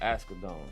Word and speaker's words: Asghedom: Asghedom.